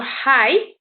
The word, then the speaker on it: high: pronounced as well so you can go high there's no gh sound so it's just high you got rough instead